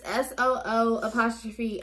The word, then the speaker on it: Soo'AE: But we're gonna be doing different masks from, how do you even pronounce this brand? I don't know. It's SOO'AE.